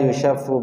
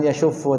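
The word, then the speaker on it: يُشَفُّ: Wala yushaffu ba'duhu ala ba'd. Janganlah kemudian yushaffu. Nah, bacaannya yushaff bisighatil mudhari' al-majhul. Sighahnya, lafal pengucapannya dengan bentuk fi'il mudhari' yang majhul. Yushaff. La yushaffu. Bukan yashuffu tapi la yushaff.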